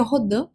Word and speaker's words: Rodin: que o matemático né Marc rodim ou rodan como queira pronunciar o certo seria rodan mas vou falar então